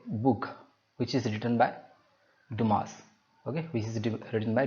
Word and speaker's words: Dumas: question number eleven three musketeers that's written by dumas okay so duma it is pronounced as tomorrow yeah so just uh mark